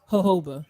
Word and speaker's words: jojoba: Jojoba. Yeah. Jojoba. Because it's those two J's and it's silent, like jojoba.